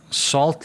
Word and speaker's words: SALLT: Down at SALLT Leadership, is that how you say it?